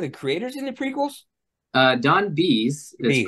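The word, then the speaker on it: Don Bies: Who's this Don Baez? Wasn't he like one of the creators in the prequels? Don Bees is pronounced.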